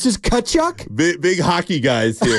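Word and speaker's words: Tkachuk: good okay so no we don't pronounce the T silent T tachu it's just kachuck big big hockey guys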